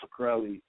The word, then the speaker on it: Shkreli: This situation with Martin Shkreli, that's how you pronounce it.